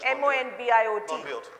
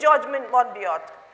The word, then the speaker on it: Monbiot: There is a person called, I don't know how to pronounce his name, M-O-N-B-I-O-T. Monbiot. You should read George Monbiot, and you should read Sainath, and you should read people who are well-versed with figures.